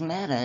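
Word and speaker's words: μετά: Meta in Greek when you put it in a translator is meta. It's me TA exactly like it's spelled out here.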